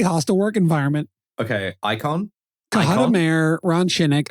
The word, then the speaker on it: Cohutta: Cohutta Mayor Ron Shinnick. I might be pronouncing that wrong. It's Cohutta. I'm sorry.